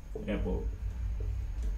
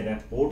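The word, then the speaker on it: repo: रेपो, ये मैंने रेपोर्ट नहीं बोला, रेपो बोला है, याद रखना। मैंने आपको सिखाया था इसको, रेपो बोलते हैं।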